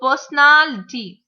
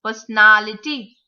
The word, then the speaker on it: personality: So personality, personality, personality. The third syllable has to be stressed.